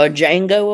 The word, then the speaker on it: Django: A Django award? The D is silent.